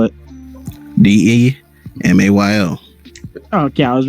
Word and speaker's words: DeMayo: How do you spell it? DEMAYO.